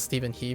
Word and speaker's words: Steven He: like say Stephen Huh Steven Hu, I I always call him Steven Hu even though I think he pronounces Steven He because he's a he's like westernized.